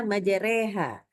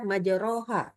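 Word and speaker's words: مَجْرَاهَا: Jadi em kita bacanya majereha. Kenapa kalau ditanya sama orang? Karena ini dibaca dengan imalah dan wajib dibaca dengan imalah. Enggak malah enggak boleh dibaca majroha ya.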